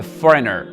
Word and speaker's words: foreigner: Un étranger, on dit a foreigner. Foreigner. Donc, on ne dit pas foreigner. J'entends souvent, je dirais genre, he is a foreigner. Non, foreigner.